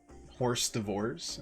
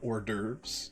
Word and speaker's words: hors d'oeuvres: I definitely always used to pronounce that horse divorce instead of hors d'oeuvres.